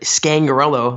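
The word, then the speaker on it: Scangarello: Vic Fangio more than likely and installed Rick scangarelo my pronouncing that correctly Chad you got it we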